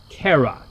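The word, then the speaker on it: cera: used for making candles the Latin word for wax is Cara c r a so if I want to say I'm bearing wax I'm carrying wax I would say caram goo notice with a hard C and A Hard G speaking of the k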